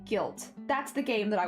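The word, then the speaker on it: Gylt: I I I think it's called uh guilt but it's spelled with like a y so it's like g y l t guilt that's the game that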